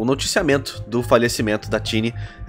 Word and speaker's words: Qinni: noticiamento do falecimento da tini aparece que essa é a pronúncia que ela mesmo explicou uma vez no twitter também que em chinês o ca tem som é o que tem som de ch então ela já tinha